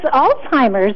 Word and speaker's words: Alzheimer's: what is it Marly it's Alzheimer's and Rosie actually should be pronounced like a TZ like Alzheimer's all right I will